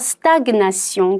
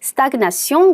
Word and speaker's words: stagnation: stagnation. 그래서 발음 주의하세요. 여기서 제 발음이 납니다. stagnation.